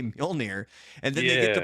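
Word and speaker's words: Mjölnir: Yeah, it's a hard name to pronounce. All right, I'll give it to you, Frank. It's Mjolnir.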